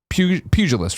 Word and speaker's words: pugilist: When ESPN showed Tyson the Street Fighter II pugilist, right? That's how you pronounce that, Gary?